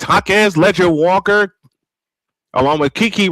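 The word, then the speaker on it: Jaquez: I've been saying her name wrong for the last two years, and I apologize for that. It's Hakez Ledger Walker along with Kiki Rice, Giana Neepkins,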